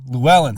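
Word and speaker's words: Llewelyn: here I got it right here oh lellan Luellen thank you like for some reason Desmond Luellen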